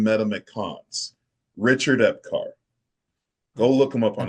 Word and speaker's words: Epcar: Richard Epcar.